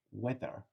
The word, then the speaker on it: weather: So it is pronounced, so it's not a soft sound. It is still quite a strong sound.